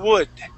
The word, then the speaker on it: wood: okay so um here you want you want to start off with an oo sound instead of a goo so let's try that U wood wood okay give me a d at the end not a Spanish D but a a English D wood wood wood w